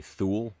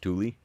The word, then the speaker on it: Thule: And it was a Thule, although most people say Thule, it's technically pronounced Thule.